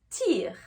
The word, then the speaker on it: tear: Donc pour le verbe déchirer, on va faire le son est. Et pour le mot larme, on va faire le son i.